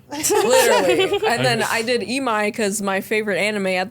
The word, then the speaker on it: Imai: And then I did Imai because my favorite anime at the time, like last year, was... Oh, it's Imai.